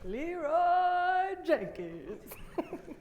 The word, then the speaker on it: Leeroy Jenkins: Leroy Jenkins.